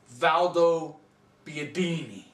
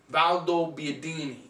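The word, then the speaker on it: Valdobbiadene: Valdo Biadini. Valdo Biadini.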